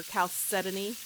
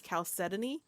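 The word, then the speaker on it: chalcedony: Decal is the South Dakota Calcidon or Caletan. I was corrected. Actually, both pronunciations are actually correct, but I think the more popular one is calcetany.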